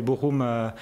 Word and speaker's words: Bochum: Alors là aussi, Bochum, on prononce ? Bochum.